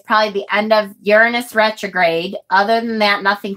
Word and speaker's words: Uranus: asses you're an ass you're in Uranus that's how I said it and then somebody said no it's actually pronounced Uranus and I'm like I